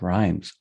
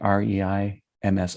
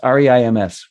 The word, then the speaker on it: Reims: Rhymes with France. And it's spelled I think it's RHEIM like Mary S. Spelled rhymes. Or is it REIMS? REIMS, right?